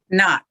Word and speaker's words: Knott: how do you say your last name not know perfect so is the coordinator of